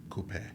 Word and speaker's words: coupe: well first of all you're saying it wrong okay Coupe it is Coupe Coupe what is wrong